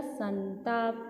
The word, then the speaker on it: संताप: तो इसका उच्चारण क्या बनेगा बेटा? संताप।